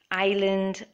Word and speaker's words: island: the S word is s letter is silent island Isle and debris i'll means a small